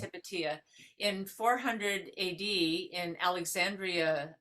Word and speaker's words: Hypatia: female scholar was um hepatia some people say hypatia but it was actually pronounced hepatia in 400 A.D in Alexandria of you know